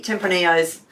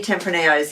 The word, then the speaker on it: Tempranillos: so we've got three tempranillos um which and that's because it's spanish that's the reason you don't pronounce the l's right templini um yes we have three tempranillos here to taste the